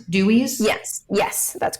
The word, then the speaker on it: Dooeys: Dutch word and then I just adjusted the spelling slightly just so because I am my primary Market is the US I wanted it to be like phonetically just easy easy to read and easy to say so um so you